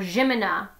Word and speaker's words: Zimina: Zimina, or Jimina. They pronounce it that way.